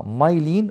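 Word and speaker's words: myelin: على شكل يونتس من ماده اسمها مايلين ومش ميلامين. ننطق صح لو سمحتوا، مايلين شيس.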